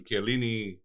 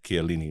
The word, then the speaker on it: Chiellini: I was like, Ram, it's Chiellini, not Chiellini.